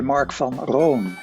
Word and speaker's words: Marc van Roon: if you in the Netherlands they would say mark from Ron is a little bit different so there's variation